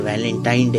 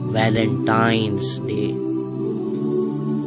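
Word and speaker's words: Valentine's Day: नाम पर गौर करें इसे जो आम कहा जाता है यह वैलेंटाइन डे है लेकिन हकीकत में जो इसका प्रोनाउंस एशन है वह है वैलेंटाइंस डे य एक वैलेंटाइन वाला दिन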